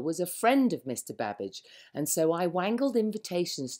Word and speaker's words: Babbage: A polymath is what they call it, as well as having a name that rhymes with cabbage. My old teacher, Mary Somerville, was a friend of Mr. Babbage, and so I wangled